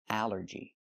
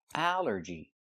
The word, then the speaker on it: allergy: L makes the sound all like ball and call. But here it makes the a sound, the short a like in apple and black. A. Allergy. It's three syllables. Allergy. The stress is on the first syllable.